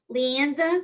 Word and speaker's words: Leanza: So Leanza, did I pronounce that correctly?